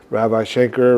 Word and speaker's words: Ravi Shankar: My friend Jason Becker turned me on to a lot of these musicians, the sitar players, Ravi Shankar, right?